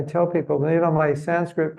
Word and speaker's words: Sanskrit: people you know my Sanskrit pronunciation is pretty good but I pronounce the word Sanskrit wrong because it's Sanskrit it's not Sanskrit Sanskrit is the American thought that was kind